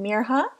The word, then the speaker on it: Mirha: school the next day my name is mirha not Maya she told Hayden proudly and explained how to pronounce it properly I'll make sure to see your name right from now on Mir huh said Hayden I'm also